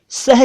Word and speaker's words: सह: यानी के साथ सह वैसे उर्दू में भी एक सह होता है जिसका उच्चारण सेह है हल्का सा और वो फारसी भाषा